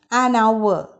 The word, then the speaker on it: hour: a silent h here h is silent in these words examples an honest made an honorable post an hour so you can see